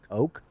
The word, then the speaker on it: Koch: because i've heard it you pronounce it cook right yep okay and i've heard it pronounced coke yep i've heard pronounced koch yep and yeah and so